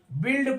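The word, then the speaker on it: build: हैं यू यहां silent B यू आई एल डी बिल्ड पढ़ते हैं यहां भी यू साइलेंट आइए अगला लेटर देखते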